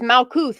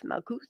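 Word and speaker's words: מלכות: And it's crazy because it's Malkuth, like milk. That's what it reminds me of. Malkuth.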